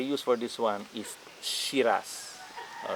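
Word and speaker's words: Syrah: for this one is shiraz all right shiraz the french word they call it shira right so i think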